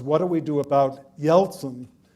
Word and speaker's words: Yeltsin: And what he wanted to know was, what do we do about Yeltsin? But he always pronounced it Yelston, like Elston Howard.